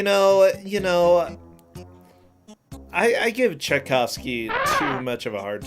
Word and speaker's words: Tchaikovsky: okay this or type how do you even pronounce the composer I'm brain furring Tchaikovsky Tchaikovsky oh boy you put two piles of trash